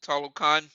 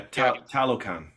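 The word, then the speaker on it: Talokan: pronounce where he's from was it Hollow con oh God yeah talocon it's ta yeah that the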